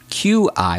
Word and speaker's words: qi: Okay, now let's practice the letter Q followed by the letter I. Here again, the letter I will sound like a long E in English, or E.